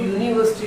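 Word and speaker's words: university: तो जब हम यूनिवर्सिटी का प्रोनाउंसिएशन करते हैं तो यू निकल गया।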